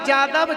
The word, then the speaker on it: यदु: यदु को यादव जादव जदु जो उच्चारण है, या का ही उच्चारण यदु है। या को हम जा शब्द पे बोलते हैं, लिखा जाता है यदु और उच्चारण है उसका जदु।